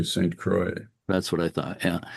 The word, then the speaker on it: St. Croix: Do you say Saint Croix or do you say the French pronunciation Saint Croix? How do you pronounce it? We do the Midwest pronunciation, so we say St. Croix.